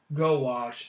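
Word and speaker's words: gouache: them bad boys pronounce gowash oh yeah it sounded like i was pronounced as gosh so it's actually pronounced go wash gosh our english language is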